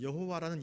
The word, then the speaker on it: 여호와: 거기다가 이제 모음을 넣어서 이제 우리가 이제 부르기는 이제 이름을 어떤 사람들은 야훼라 부르기도 하고 어떤 사람은 여호와라 부르기도 하는데, 하나님의 그 이름은 감히 이스라엘 백성들이 함부로 부를 수 없는 거룩한 이름이었습니다.